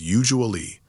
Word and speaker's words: usually: A natural American way to say it is usually. 3 syllables with the stress on the first one.